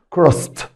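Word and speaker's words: crossed: عندنا كلمه كروس كروست كروس كروست. لاحظ ان نطقت الاي دي هنا تي لانها جاء بعد السه ساوند كروست كروست.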